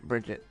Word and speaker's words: Brigitte: I always get pronunciation a little off on my head. Yeah, Bridget, that's it.